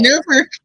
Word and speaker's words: Norfolk: Norfolk.